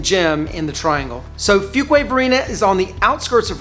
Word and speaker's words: Fuquay-Varina: in the Raleigh area for a while, say Fuquay-Varina, even Fuquay-Varina. Yeah, I know. Fuquay-Varina, all kinds of different mispronunciations. It's actually Fuquay-Varina, and it is the merger of 2 little